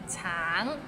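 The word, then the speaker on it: 橙: can't pronounce anything now 10 hardest words to pronounce in canones all right let's start Tang it's it means orange but some people might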